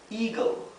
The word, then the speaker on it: eagle: Eagle. Eagle significa águila. Aquí también, cuando tenemos esta combinación de letras, la E con la A, la pronunciación es I.